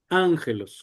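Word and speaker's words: ἄγγελος: Ángelos, correcto. Y la pronunciación se queda en la alfa.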